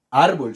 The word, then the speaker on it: árbol: luego después bolt ahora como pronunció árbol o árbol árbol cierto en este caso la sílaba tónica o la sigla de mayor fuerza es ar ustedes se dan cuenta